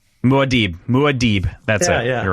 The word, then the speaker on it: Muad'Dib: Anyway, it's Maudib, Maudib.